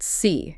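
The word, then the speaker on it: 思: And SI is pronounced "see" in Chinese, right?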